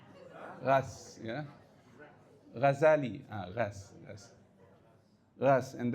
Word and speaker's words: Reims: Rhymes. No. Confirm you are not French. So it is to be pronounced as ras. Ras, yeah?